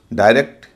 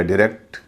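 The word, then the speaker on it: direct: इसी तरह pirate, डायरेक्ट या डायरेक्ट, सायरन।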